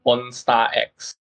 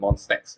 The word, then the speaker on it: Monstex: Yeah, Yeah, I think some of them actually pronounce this as Monster X. Monster and then X. But yeah, actually we call it Monstex, which sounds a lot cooler, in my opinion.